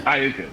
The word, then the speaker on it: Iuka: Is it Iuka? Over by Pickwick. Yeah, Iuka, Mississippi. Town. Yeah. Iuka, that's it.